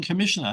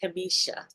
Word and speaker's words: Kimmisha: So good evening, Commissioner. How are you? I'm good. And it's actually pronounced Kimmisha.